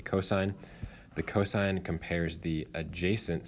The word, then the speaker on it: cosine: the cosine which is abbreviated cos but again don't say Co just say cosine the cosine compares the